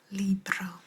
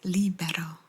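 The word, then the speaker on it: libro: word I like that Libra what do you think Libra means it's not libero but it's Libra in which case this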